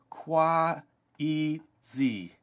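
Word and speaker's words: 筷子: cool all right so it's delicious okay so kuazi said the waitress in Chinese that's our word for Chopstick said Shen it's pronounced like this qua Z that's a real tongue twister zy said as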